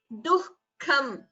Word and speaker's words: दुःखम्: So ichha dveshah sukham duhkham. Note the pronunciation of the word duhkham. The ha should be heard between du and ka.